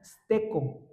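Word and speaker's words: στήκω: La palabra firmes, hermanos, es una palabra griega que se pronuncia steco y esa palabra significa perseverar.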